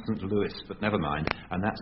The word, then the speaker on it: St. Louis: I'm told it should be pronounced St. Louis, but never mind.